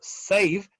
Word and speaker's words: save: Después tenemos el sonido save. Save. Save. Sonido B. Sonido F. Save. Fíjense que no es como se escribe. Hay que siempre detallar eso. Es como ese sonido final, es como suena. El verbo save es un sonido F al final.